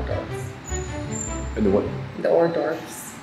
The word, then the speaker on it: hors d'oeuvres: The hors d'oeuvres. I can't pronounce it. Or divorce. I used to say or divorce.